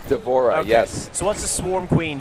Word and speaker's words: D'Vorah: to do is it how you how' you pronounce her name d'vorah is that right d'vorah yes what's the Swarm Queen variation she's like